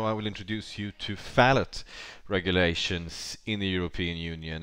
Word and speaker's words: phthalate: uh uploading now and i've actually believed it was fatalets but i guess that was wrong now a phallic is